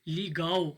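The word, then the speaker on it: legal: तो वहाँ पर भी आखिरी वाले एल की आवाज़ आपने नहीं निकालनी है, आपने ओ की आवाज़ निकालनी है, लीगाओ हो जाएगा वो, ठीक है।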